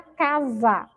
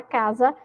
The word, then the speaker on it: casa: Então, por exemplo, a palavra casa. Essa sílaba aí, ó, za, ela tem um som de Z, não tem? Mas a palavra casa não é escrita com Z. A palavra casa é escrita com si.